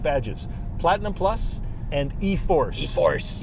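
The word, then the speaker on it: e-4ORCE: E-Force. E-Force is not spelled like you think it does.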